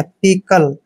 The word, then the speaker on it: pickle: दोस्तों P का उच्चारण पे करते हैं, I को ई की मात्रा पढ़ना है, CK का उच्चारण कै करते हैं और LE को ले पढ़ना है। पिकल, पिकल मीन्स होता है